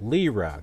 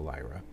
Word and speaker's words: lira: blah blah the Turkish lira lira that's how it's pronounced not the Lyra extended its slide with